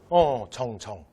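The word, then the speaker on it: 丁: 여러분 이거 한국사에서 뭐라고 읽지 않는다? 그렇죠. 죄라고 읽으면 안 돼. 얘 뭐라고요? 정.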